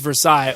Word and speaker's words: Versailles: __ ] about Versailles Kentucky sure technically it's Versailles okay well if we're gonna renounce everything French